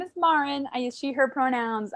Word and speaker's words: Maren: Don't get it twisted. It's not Maren. It's not Maren. I know it sounds like it could be, or reads like it could be. Nope. My name is Maren.